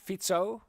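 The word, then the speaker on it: Fico: so um the elections were won by Robert fito right now I'm saying it right yep um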